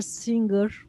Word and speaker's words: singer: students you were a singer you were singers okay mean G sound no no G sound so don't say sing singer but say singer you were a singer